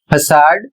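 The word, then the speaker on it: façade: पहला वाला सी स का उच्चारण हो रहा है, लास्ट वाला का उच्चारण किया जा रहा है। अगला शब्द है FACADE, फसाड, और इसका अर्थ है बाहरी दिखावा।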